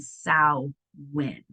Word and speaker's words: Samhain: it in the chat, Sam Hain, but it's pronounced Sow. Where's my doodle hickey, you guys? Win. So Sam Hain and Sow win.